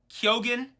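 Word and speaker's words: Keoghan: I feel confident that kogan is is is kyogen like kind of like with a Y like kyogen is is probably kind of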